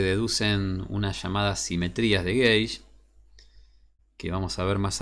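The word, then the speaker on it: gauge: pie de página gays el término gays se pronuncia gays este significa medida o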